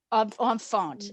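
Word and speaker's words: enfant: that the word um tell me am i pronouncing this right own phone for baby oh phone is a child on font yes for a child is like a much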